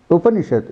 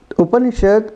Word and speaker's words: Upanishad: The Upanishad consists of Upa, Ni, and Shad.